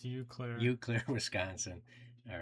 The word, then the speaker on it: Eau Claire: I've got up, is this pronounced Eau Claire? It's you, Claire. Eau Claire, Wisconsin.